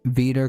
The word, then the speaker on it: wieder: Mach Deutschland wieder großartig.